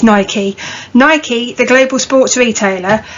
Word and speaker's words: Nike: Nike, yes, that's how it's said. You listen to the American chief executive, he says Nike.